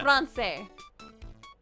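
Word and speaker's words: Français: Says, pronounce it like an S. Francais.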